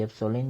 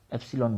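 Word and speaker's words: epsilon: ठीक है, तो देखो यहाँ माध्यम की विद्युतशीलता मैं बात कर रहा हूँ ये एप्सिलॉन की, एप्सिलॉन बोलो या एप्सिलॉन बोलो, दोनों सही है।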